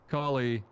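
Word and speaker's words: Calais: How is it pronounced? Collie.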